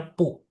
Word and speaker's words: 不: B itu dibacanya P. Jadi BU bacanya pu.